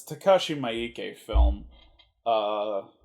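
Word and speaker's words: Miike: or alive it's takashi maike film uh i hope i'm pronouncing that right kashimiki it might just be takashi mikey i think i've heard it both ways on that one uh takashi maike known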